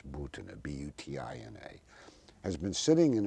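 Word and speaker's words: Maria Butina: Incidentally, as we talk, this young Russian woman, Marina Butina, sometimes pronounced here Butina, but it's Butina, B-U-T-I-N-A, has been sitting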